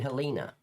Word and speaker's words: Helene: Hurricane Helina. But there's no A. It sounds like I'm saying an A, but there's no A at the end. It's an E. Heleni. It wouldn't be Heleni, but it's spelled Heleni. Oh, you call it Helen. It's Hel Helina. The E turns into an A for some reason.